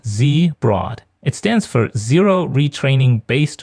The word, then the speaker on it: ZeBROD: That's pronounced ZeBROD.